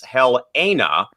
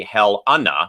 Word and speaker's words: Helena: He says that Helena is often mispronounced as Helena, and the right way is actually Helena in regards to the state capital of Montana.